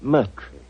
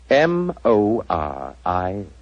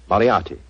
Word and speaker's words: Moriarty: Dear me, I have so much trouble with my name. People will either misspell it or mispronounce it. I'm afraid I'll have to begin calling it the way it looks. M-O-R-I-A-R-T-Y. Moriarty. Moriarty. I shall remember that name.